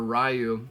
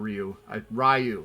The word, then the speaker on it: Ryu: I think you can only play as either Ken or Ryu. Yeah, I say Ryu, not Ryu.